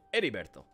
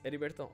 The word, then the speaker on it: Heriberto: I almost said Heriberto, but I know that's not how you say it. Heriberto. You don't pronounce the H in Spanish.